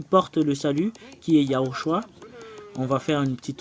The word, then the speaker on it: Yahushua: Voilà le nom original du Sauveur qui porte le salut, qui est Yahushua.